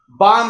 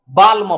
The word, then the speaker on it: balm: यहाँ बाम है, BALM, बाम, दर्दनाशक जो मरहम होता है उसे हम बाम बुलाते हैं, तो बाम, नहीं तो उस तरह हम उसको क्या पढ़ते, बाल्म पढ़ते। ल लगा है तो एल का प्रोनाउंसिएशन होता ना, लेकिन यहाँ एल नहीं लगाते हैं, आपको यहाँ ध्यान देना है कि आपका एल साइलेंट है।